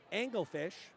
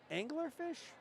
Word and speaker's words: Anglerfish: crimson schneider from anglerfish angle fish anglerfish have i been saying it wrong all along i think it's angler like a fisherman like an angler and i've been saying